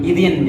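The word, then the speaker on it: إذٍ: Jumlah ini dibuang digantikan tanwin. Idin jadinya dibacanya. Idin.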